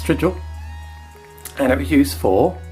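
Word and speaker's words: strigil: romans and it was called a stridgel s-t-r-i-g-i-l spell that from me to you in a minute it's strijl and it was used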